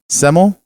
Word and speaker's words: Semele: Semele?